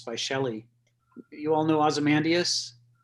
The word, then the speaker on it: Ozymandias: worth looking up it's it's a canada we pronounce this aussie man diet nice that that may not be american english well you know given how americans do things you might have it the right way we might have it the wrong